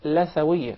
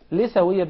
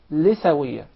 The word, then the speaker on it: لثوية: It is commonly mispronounced. Some people will call it لثوية. Rather, in Arabic it is called لثوية because we call the gum litha. Yes. So that's why it is proper to say لثوية.